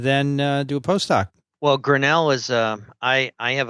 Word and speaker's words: Grinnell: grinnell is how do you say it michael grinnell grinnell you go he's going back to grinnell